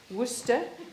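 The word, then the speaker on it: Worcester: where Wooster is and how you pronounce it this is Wooster Cathedral City and very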